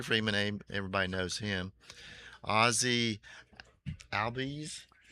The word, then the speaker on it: Albies: Ozzy Albies. How do you Ozzy pronounce- Albies. yeah, Albies.